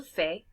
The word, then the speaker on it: fait: All pronounced the same, almost spelled the same, except this one ends with a T.